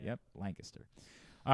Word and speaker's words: Lancaster: It's like Lancaster. 100%. Lancaster, 100%. Yeah. It's not Lancaster. That's what Lancaster. I always said, yeah. Yep, Lancaster.